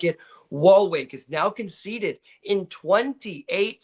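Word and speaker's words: Waalwijk: And then you got wall wake.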